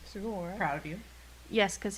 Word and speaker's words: Sugawara: Sugawara.